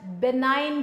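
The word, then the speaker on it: benign: वन is name details बिनाइन tumour अ ने बनाई है को बनाने में जी साइलेंट है कि अगर ट्यूमर यह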